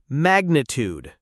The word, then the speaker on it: magnitude: Here's another magnitude. Magnitude. The stress is on the first syllable and it ends with a tude sound like food.